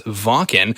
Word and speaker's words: Wacken: Yeah, and for anybody who didn't know, we're talking about Wacken. Yeah. Which is properly pronounced as Wacken. Now, that's absolutely excited.